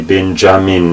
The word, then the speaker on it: Benjamin: This Y letter was written as a J, which later on in English took the pronunciation J. So that's why we say Benjamin, well, even though that sound is nothing like the original sound of the Hebrew word.